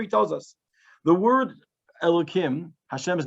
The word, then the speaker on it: Elokim: Here he tells us the word Elokim, Hashem's name, and now you say it with a kuf. Remember, it's spelled with a hey, really.